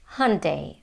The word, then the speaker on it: Hyundai: This is how they say in the US and to me the American way of saying it sounds closer to the original Korean pronunciation. Hundai hyundai hyundai. And it's interesting that in British English they say it completely differently. They say Hyundai Hyundai.